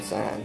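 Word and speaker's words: scion: But you can make 5 or 6 trees off of one sign. Okay. And sign is spelled S-C-I-O-N.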